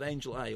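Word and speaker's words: Angel-A: I mentioned that back toback with Angel A or Angela, depending on how you want to pronounce it, which is a new film by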